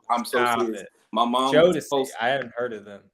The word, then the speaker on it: Jodeci: Jodeci, is that how you say it?